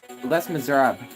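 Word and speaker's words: Les Misérables: My god, the pronunciation is Les Miserables.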